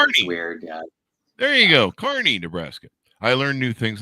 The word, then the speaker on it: Kearney: Did I pronounce that right? That's Kearney, but it's weird. Yeah. There you go. Kearney, Nebraska.